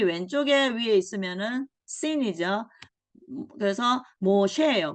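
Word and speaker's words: משה: 그래서 모셰예요. 모세가 아니고 모셰.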